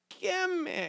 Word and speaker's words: ischemic: And it was the one that I totally pronounced incorrectly that everybody tried to help me say. Say it with me. Ischemic.